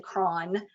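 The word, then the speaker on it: Croghan: Dr John KRON and that name was c-r-o-g-h-a-n I've heard several pronunciations of it I'm going to say KRON Dr KRON was a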